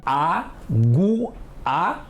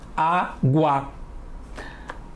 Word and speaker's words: água: A-gu-a é muito feio, não é, Alfa? É até difícil falar. Não é assim que falamos. Todo mundo fala água.